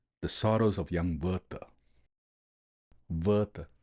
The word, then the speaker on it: Werther: Werther, how it rhymes with Goethe, should not be lost upon us.